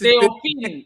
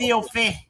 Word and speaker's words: Theophane: This is Theophine. Oh, okay. It's Theophane. Theophane or Theophine? Theophane. With the N.